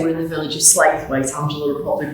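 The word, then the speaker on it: Slaithwaite: going to say we're in the village of slathwaite angela will probably pronounce it correctly flowex yes it's your yeah i mean um i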